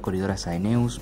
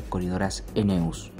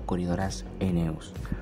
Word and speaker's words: Corydoras aeneus: la pronunciación correcta sería Corydoras aeneus, es decir que la AE sonarían como una E, quedando como Corydoras aeneus.